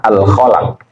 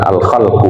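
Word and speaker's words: الخَلَق: Maruf wahyuil munkarul khalaq ya cara bacanya bifthataini Ya dengan cara memfathahkan dua huruf pertama alkalaq bukan Al khalqu begitu yaul khaq Itu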